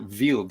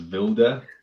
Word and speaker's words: Wilde: I was going to pronounce it Wild because I thought he was German, but turns out he's from England. Is that right, Jon? Yes, it's Wild, but nearly everyone in Germany says Wilde.